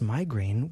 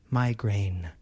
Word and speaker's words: migraine: The first syllable has the I vowel sound, my, and the second syllable has the A vowel sound, grain. Listen and repeat after me. Migraine.